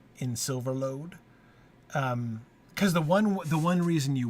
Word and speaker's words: Silverlode: If they don't do their O's quite like that, and so this is already being like, remember, folks, you're supposed to pronounce it like O, not like aw or or aw or whatever, however else it might be.